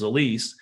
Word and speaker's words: Zilis: What is Zilis? And we said, well, it's actually pronounced Zilis, but Zilis is a